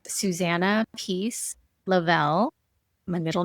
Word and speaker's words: Lovell: I'll say it first and then I'll spell it for you all. It's Susanna Peace Lavel.